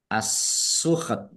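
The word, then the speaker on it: السُّحْتَ: Nah, kemudian karena waqaf knya sukun, tnya juga dibaca sukun. Maka dibaca antara ha dan ta assukht. Kalau terakhir itu kalau bisa ada s sedikit tapi jangan terlalu kelihatan. Asuk.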